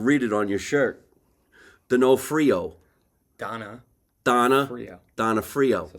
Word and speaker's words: Donofrio: Donofrio.